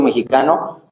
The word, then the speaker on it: mexica: Entonces, ese es como, hay muchas lenguas en el territorio mexicano, pero cuando decimos mexicano, si esa palabra es una palabra en español. Si la decimos en mexicano, ¿saben cómo se dice? Se dice mexica.